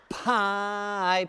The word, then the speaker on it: pi: would say Fe right because the Greek letters are supposed to rhyme but if we are